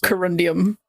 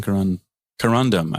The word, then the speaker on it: corundum: And I think we should change the name to corundium. Yeah. I would love some corundum. I said it wrong the first time.